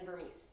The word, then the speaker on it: Vermes: social media i have that is not vermees and if you didn't know how to pronounce my last name now you do anyway